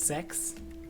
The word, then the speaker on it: CeX: Is it literally pronounced sex?